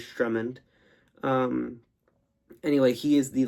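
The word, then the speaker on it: Sturmhond: So I pronounced that as Strummond.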